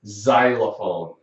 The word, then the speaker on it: xylophone: But it can sound like Z, like in the word xylophone.